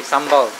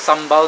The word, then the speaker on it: sambal: what we call it what does sambal mean malay word it's not the what they call that that dance that rhymes with sambal what's the dance it's not samba that's the dance and samba is from